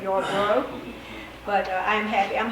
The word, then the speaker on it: Yarborough: my name correctly because many times it's y'all borah instead of your bro but i am happy